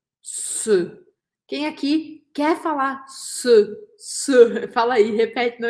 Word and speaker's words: ce: E o que significa esse se, que se escreve C-E, se, tá? Lembra que a letra E em francês, ela um som fechado, um som de E.